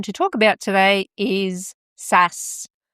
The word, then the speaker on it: SaaS: talk about today is Sass. Now, this is Sass, not spelled S-A-S-S, but spelled S-A-A-S. A few people might pronounce it differently, but honestly, I prefer Sass because when you're in